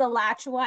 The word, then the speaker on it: Alachua: John's, Alachua, actually pronounced that correctly, for little Broward, yes.